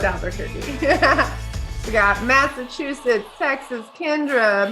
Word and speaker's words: Albuquerque: They're gonna think that we actually think that's how you say it. Oh. we know it's Albuquerque.